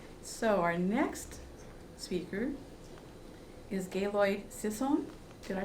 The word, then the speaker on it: Gaylord Sisson: So our next speaker is Gaylord Sisson. Did I pronounce that correctly?